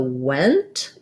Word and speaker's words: went: words in the sentence focusing on the ah want your mouth is more open and the vowel is further back versus the went you're going to see it has the red tent vowel so um and it